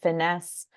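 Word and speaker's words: FINYS: collaborative uh initiative called Farm to Institution New York State we pronounce it finesse um and so the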